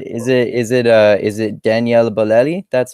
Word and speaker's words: Daniele Bolelli: it is it is it a is it Daniella Belletti that's how is that how you pronounce it closed yeah yeah okay and of